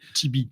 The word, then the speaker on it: TV: que vous l'avez compris tibi voilà donc on peut prononcer tibi ça passe bien aussi et sur le nom